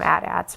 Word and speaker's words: AT-AT: the way I hate calling at-ats I'd rather call them hcats I guess I could call them Imperial walkers anyway you're supposed to call them a dad's but I'm not a fan of that pronunciation Luke is using it